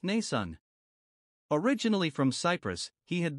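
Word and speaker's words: Mnason: by a christian brother named nason pronounced nasan originally from cyprus he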